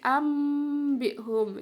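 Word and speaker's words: أنبئهم: Nomor 1, tertulis anbihum, bacanya bukan anbihum tapi ambihum, ya, nun sukunya dibaca mim sukun, ya.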